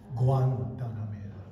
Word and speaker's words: Guantanamera: in Sonora, Mexico, because they make that G-U-E sound like a W. But in regular Spanish, in other words, the rest of the world, it's a hard G. Guantanamera.